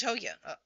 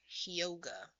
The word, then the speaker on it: Hyoga: This is Hoya. My god, I said his name wrong. Hyoga.